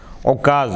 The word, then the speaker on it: عکاظ: فیروز آبادی لکھتے ہیں، عکاظ کا تلفظ ہے عکاظ، غراب کی طرح۔ یہ نخلا اور طائف